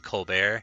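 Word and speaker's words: Stephen Colbert: rather than just it's it's spelled Colbert but he chooses to pronounce it colar Steven coar Steve colar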